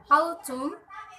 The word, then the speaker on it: autumn: The letter N is silent in the following words. The examples are autumn, column, hymn.